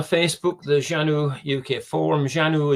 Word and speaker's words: Xanue: Janu is spelled Xanue, but pronounced as Janu with a J.